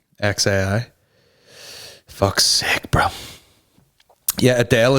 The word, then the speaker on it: xAI: It's just X, like the letter X, then AI, like how you would say A, then I. XAI.